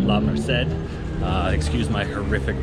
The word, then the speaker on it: La Merced: So this is La Merced, which I believe is how it's pronounced, not La Merced.